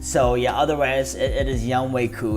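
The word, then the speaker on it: Younghoe Koo: I'm sure all of his teammates call him Young Ho, and he just accepts it. So I wish that was it, but for me, if I'm providing you guys accurate information, I want to pronounce the name right. So it is Young Wei Koo.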